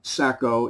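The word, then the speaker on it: Saco: It's called Charlie Sacco in New York. S-A-C-O, around here that's pronounced Sacco, so I'm assuming that's what it is.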